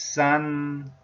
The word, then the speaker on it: 三: is the pronunciation and chinese pronunciation in mainland china is sun sun tone number one tone number one the